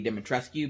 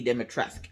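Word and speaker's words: Dimitrescu: with lady demotresque um i've been calling her lady demon rescue because the waves it's spelled but it's lady demotress as she says it herself in the game i've been waiting for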